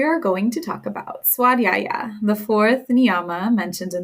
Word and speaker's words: Svadyaya: love Sanskrit so much the V is pronounced as a w if this is new